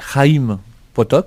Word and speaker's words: Chaim Potok: Oui, je pense que la prononciation serait Chaim Potok, mais bon, on va c'est CH, on va dire Chaim Potok. C'est de l'hébreu, hein?